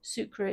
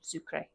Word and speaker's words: Sucre: to sura sucra sucra sucra is the French pronunciation Spanish pronunciation sucre okay then in the interest of keeping it real 400 a.m.